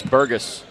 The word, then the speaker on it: Burgess: We were told that it's Burgess. That's the way he likes to pronounce it.